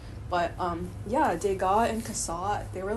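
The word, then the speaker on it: Cassatt: kasat I love Mary kasat Mary yeah Mary Mary kasat that's how you say her name um I really love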